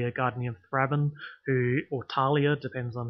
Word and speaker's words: Thalia: your house written apparently I was told that it's actually Talia just like the actual real world modern-day name Talia which is spelt Athaliah